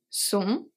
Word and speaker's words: sont: Sont, we don't say sont. Sont, T is silent.